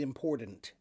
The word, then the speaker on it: important: It's almost like a soft D or like they take the the D out all the T out altogether. Right. So um so yeah I pronounce the hard T because the word important comes from the word import and imports are important.